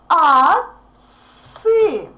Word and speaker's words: отцы: Отцы. Отцы. Y becomes stressed. Therefore, this letter O becomes A, represents a sound A.